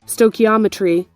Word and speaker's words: stoichiometry: of this term and this is how you pronounce it stochiometry now look at that sto ometry the relationship